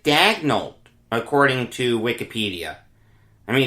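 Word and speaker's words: Daigneault: their next head coach mark dagnolt not danielle he pronounces it dagnolt according to wikipedia i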